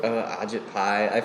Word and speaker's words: Ajit Pai: How you pronounce it? Ajit Pai.